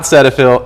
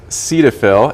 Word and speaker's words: Cetaphil: before we started here it's not sedil it is Cetaphil and then this is